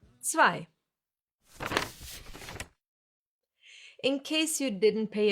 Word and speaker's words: zwei: It's two or more letters that always get pronounced the same way when they are together, like here, I. Zwei.